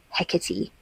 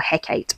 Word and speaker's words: Hecate: Nikita Gill, which is Hecate or Hecate. I actually never know, but I think based on how we pronounce things like Aphrodite, it's Hecate.